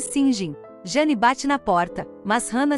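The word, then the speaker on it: St John: estão esperando por alguém chamado Saint John pronuncia-se sjin Jan bate na porta mas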